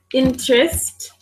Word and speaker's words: interest: the person is interest interest which letter are we not pronouncing or am I not pronouncing interest interest the between the T and the interest exactly so again